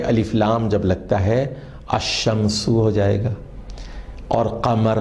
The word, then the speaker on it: الشمس: لیکن ذرا غور فرمائیے، جب ہم تلفظ ادا کرتے ہیں تو لکھا ہوا ہوتا ہے الشمس، لیکن ہم اس کو پڑھتے ہیں الشمس۔ اس کے برخلاف القمر